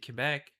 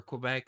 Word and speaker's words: Quebec: While us, we have our Turkey Day, our Canadian Thanksgiving that we do not celebrate in my province in Quebec, or Quebec as you Americans say.